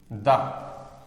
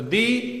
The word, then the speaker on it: the: इस दी को कहेंगे द। तो दी और द, ये दो हम इसकी प्रोनाउंसिएशन पकड़ते हैं, मगर उनका सही क्या होगा। अगर वो वॉवल के पहले आता है तो वो दी है, अगर कॉन्सोनेंट के पहले